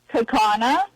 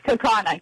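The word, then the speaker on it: Kaukauna: Or or as my uh my AI says, Kaka, but it's Kakana.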